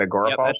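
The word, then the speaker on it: Agorapulse: word you just said agor pulse is the name of the thing AG g o r a pulse right Eric that's how you say it right agor pulse that's it yeah it's a social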